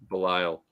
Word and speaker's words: Belial: one Belial oh yeah Belial should be like like Lyle but with a B in front of it I'm gonna spell